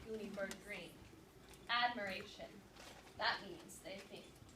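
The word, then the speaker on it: Greene: My name is Goonie Bird Green. That's green with a silent E at the end.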